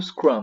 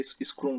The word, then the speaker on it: Scrum: Bom, então, assim, esse é o Scrum, né? Essa é a pronúncia da palavra. Mas muita gente pronuncia Scrum também, né?